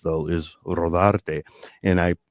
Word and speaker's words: Rodarte: to my father because that is really how the name is supposed to be pronounced rather than Rodardi.